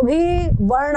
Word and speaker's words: भव: है भगवत गीते भव एक बात और ध्यान रखना जहां पर संयुक्त अक्षर होता है ये द और व संयुक्त अक्षर है तो इसके पहले जो भी वर्ण होता है उसको गुरु उच्चारण होता है मतलब दीर्घ रूप में उच्चारण उसे थोड़ा सा प्रेशर दिया जाता है तो भव ऐसे बोलेंगे भव द्वेषण ऐसा हो